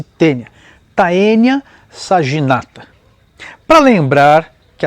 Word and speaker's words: taenia: se chama tênia saginata escreve-se taenia pronuncia-se tênia taenia saginata para lembrar